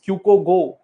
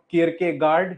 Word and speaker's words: Kierkegaard: Then the pronunciation of next thinker, which I called Mr. K, is Kyuko Go. He is not Kierkegaard, he's Kyuko Go.